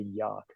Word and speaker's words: Youghiogheny: Is it the Yawk or the yak? Yawk. The Yawk. Okay. Yeah, it's funny There you that the two different spellings are for pronunciations. They do the Yawk, and I see wherever folks get the yak from, but it's Yawk, Yough. The rest of it I can't spell. I just say Youghiogheny.